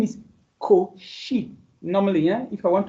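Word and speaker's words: Cauchy: I didn't say couchi. Of course some say couchi. The name is Coi normally.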